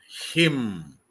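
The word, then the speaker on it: hymn: this word I learn him h y m n n is silent as what is Asa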